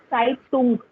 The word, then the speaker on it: Zeitung: Zeitung. Ung. Zeitung. Zeitung. Because yes, because U has U sound, na?